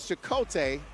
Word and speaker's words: Chicote: It's Chicote or Chacote? It is Chicote, and it's actually a Star Wars reference.